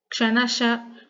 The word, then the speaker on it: Kshanashah: So here this Visarga should be spelled in such a way that Kshanasha, Kanashaschaiva, which is a H sound. The Visarga must be pronounced with the H sound.